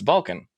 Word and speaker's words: Balkun: People say Balkun all kinds of different ways, and spell it all kinds of different ways too. It's kind of one of these things that like we've like started collecting misspellings and mispronunciations of the name, because people see the name and they could say the A or the U completely differently.